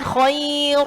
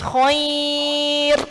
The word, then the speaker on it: khair: Kalau tadi ro sukun, kalau harokatnya fathah, bacanya tebal. Kalau ada ya sukunnya maka bacanya tipis. Jadi bacanya khair bersama. Nah, jadi bacanya bukan khair, bukan, tapi tipis khair bersama.